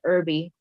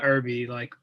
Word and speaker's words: Irby: Real ones will know that his name is pronounced Irby. Yeah, Irby, yeah, definitely, like oregano.